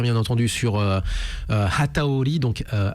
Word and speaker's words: Hataori: groupe Facebook he bien entendu sur euh euh Hataori, donc euh H A T A O R I, comme ça se prononce.